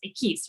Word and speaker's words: Equis: And Carlos, I apologize in advance because I do not speak Spanish, but I believe it's actually pronounced Equis, right?